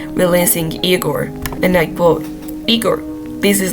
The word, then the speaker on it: IGOR: And I quote, "Eigore.